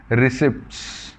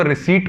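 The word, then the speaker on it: receipt: हम बोलकर चलते हैं रिसर्च रिसर्च इसमें पी साइलेंट होता है कई लोगों को रिसीप्ट बोल देते हैं रिसीव्ड भी बोल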